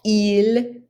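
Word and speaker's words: ils: Et finalement, il et elle. Notice you don't pronounce the S at the end.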